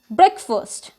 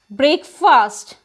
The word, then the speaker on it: breakfast: hotel it's not hotel the next word is breakfast a very common mistake that we do in a day-to-day life is we pronounce it as break fast but it does not break fast it is